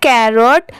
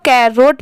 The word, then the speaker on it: carrot: ठीक है, ये है कैरोट। इसे बहुत सारे लोग कैरोट पढ़ते हैं, यहाँ पर लिखा भी कैरोट ही है, बट इसकी प्रोनाउंसिएशन है कैरट।